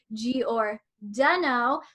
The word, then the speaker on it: Giordano: Ray remember it is Giordano. So that's apparently how you remember how to spell it. But if you're from like the Illinois area, it's like the pizza, Giordano's Pizza, just like that.